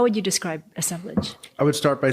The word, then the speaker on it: assemblage: how do you say the word in assemblage assemblage so one of the definitions that really resonates